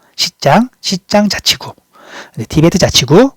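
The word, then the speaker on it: 西藏: 자, 우리가 우리가 티베트라는 말을 중국어로 이제 발음할 때는 시장이라고 말을 해요. 시장 자치구.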